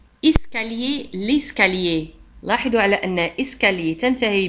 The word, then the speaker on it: escalier: أو السلم l'escalier escalier l'escalier لاحظوا على أن escalier تنتهي ب L I E R وتنطق lié escalier R لا تنطق لا نقول